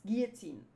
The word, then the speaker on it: guillotine: oh 10,000 kilog gillotin how do you say Guillotine Guillotine oh it's Guillotine gutin okay you don't say the else hello I mean hello